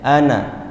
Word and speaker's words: أنا: Ana tulisannya panjang dibaca pendek. Ana. Nah tulisannya panjang Bapak Ibu ya. Ini dia dalam Al-Quran demikian sama semuanya ya. Tapi kita tidak boleh membacanya dengan panjang.